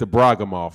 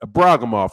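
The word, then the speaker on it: Ibragimov: of the Braga MA there's a bra come off is how you pronounce that a bra come off let's go layman brewster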